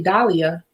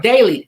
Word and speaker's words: Daily: a video and Daily Dahlia, I'm sorry, Daily. I'm gonna say Daily, and I'm sorry, Daily.